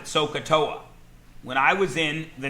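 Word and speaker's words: SOHCAHTOA: we talk about this this is a fake word it means nothing every math teacher since the dawn of time has been using this fake word we pronounce it soaa when I was in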